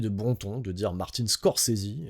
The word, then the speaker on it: Scorsese: C'est vrai que moi j'ai toujours dit Martin Scorsais. Voilà. Mais c'est parce qu'on est francophone, ça, tu vois. Donc euh des fois, bah le e euh on le prononce pas.